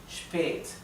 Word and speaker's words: spät: Cuando no está seguida por una doble consonante, se pronuncia un poco más larga.